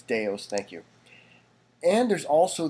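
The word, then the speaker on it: Deus: buy new for dos X that's how you pronounce it Folks by the way don't say Deuce it's deos thank you and there's also these free ones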